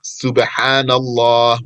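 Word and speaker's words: سبحان الله: Subhanallah. With good pronunciation, you have sin and ha. Subhanallah. And the name of Allah has ha at the end.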